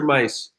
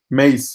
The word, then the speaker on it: Mace: And your friend is his name pronounced Mace or Mice? Mace, yeah. Yeah, so Mace is in our league, and he's a friend of Bruno's.